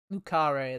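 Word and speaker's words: Le Carré: after all this is lucari lucare that's how they pronounce it i'm a teacher i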